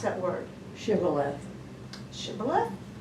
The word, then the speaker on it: Shibboleth: How would you pronounce that word? Shibboleth.